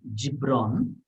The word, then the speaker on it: Gibran: poem by kahlil gibran some people will pronounce it as jibron um maybe i'm not too sure i think gibran is generally the one that was that's being used um first i'll share